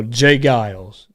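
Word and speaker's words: J. Geils: Even though I knew that, and I still pronounce it wrong a bit. But now I know. Jay Geils.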